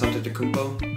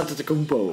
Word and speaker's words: Antetokounmpo: Now they have Chris Milton, Giannis Antetokounmpo. Can you say his name? Giannis Antetokounmpo. Oh, nice. Okay. No, I don't get I can't spell it, but I know how to say it. Antetokounmpo. Anyways, Antetokounmpo.